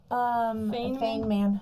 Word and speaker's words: Feynman: Feynman.